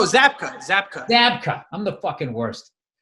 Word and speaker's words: Zabka: How do you pronounce Williams' last name? Zabka? No, Zabka.